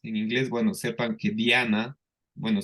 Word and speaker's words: Diana: inglés bueno sepan que Diana bueno se escribe igual pero se pronuncia Diana Diana así como Diana